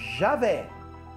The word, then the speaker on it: Javé: estudiosos Podem trazer para mostrar que Javé é a pronúncia correta de Deus e que Jeová é uma pronúncia equivocada Com certeza do nome